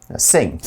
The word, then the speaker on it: Singh: school sweetheart rey sai singh yes pronounce sing so this is a